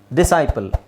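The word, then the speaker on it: disciple: ಮಾತ್ರ ನೋಡಿದ್ರೆ ಸಾಕು ಓಕೆ ಇಲ್ಲಿ ನೋಡಿ ಕ್ರೆಸೆಂಟ್ ಡಿಸೆಂಟ್ ಡಿಸೈಪಲ್ ಇಲ್ಲೆಲ್ಲ ನೀವು ಸೈಲೆಂಟ್ ಸೈಲೆಂಟ್ ಮಾಡಿದ್ರೆ ಆಯ್ತು ಸಿ ಇವನೆಸೆನ್ಸ್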